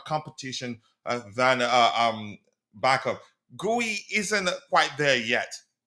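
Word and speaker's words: Guéhi: Guey isn't quite there yet. Is he Guy? He says his name is it's pronounced Gee.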